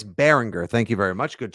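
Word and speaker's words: Baringer: booty not boote and it's a hard G it's Bryce Behringer thank you very much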